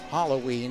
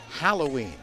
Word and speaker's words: Halloween: It's not Halloween, it's Halloween. H-A, not H-O.